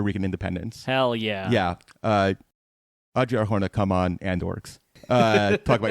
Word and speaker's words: Adria Arjona: Adria Arjona.